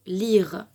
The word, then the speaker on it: lyre: Par exemple, dans le mot lire. Dans ce mot-là, le Y se prononce comme si c'était un I.